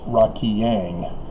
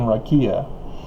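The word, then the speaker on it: raqia: the reason why joseph smith calls the firmament in the heavens rocky yang rather than rakia and it's supposed to be a guttural iron sound at the end but good luck getting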